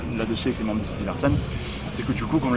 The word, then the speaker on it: Sidilarsen: Mais en fait dans la prononciation ça se dit Sidi Larsen. Donc ça a été écrit autrement pour qu'aujourd'hui ça colle et que ça se prononce Sidi Larsen.